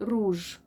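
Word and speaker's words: rouge: اللي احنا بنحطه اه بس ننطقها روج روج طب انا لما انطق رو ايه الحرفين نطقوا او الاويو الاو واليو رو يبقى اكتب ار او يو روج ج وزي ما احنا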